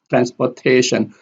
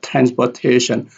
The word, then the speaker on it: transportation: Transportation, transportation. Here when we listen to it carefully, we have transportation. Trans is the second loudest and T here is the loudest.